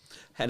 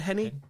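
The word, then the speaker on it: Henne: drive hen was perfect hen like I obiously pronouncing it like pen the pastor which I don't think he's right but yeah is Chad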